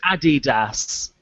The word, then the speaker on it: Adidas: a New Balance soy or soap shoes it's pronounced Adidas and soap shoes already did it so they